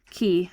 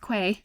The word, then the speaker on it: quay: wander on the quay key. Sorry, wander on the key. It's not pronounced quay. key and wander on the key, watching the boats come up to the X to unload at the fine customs house.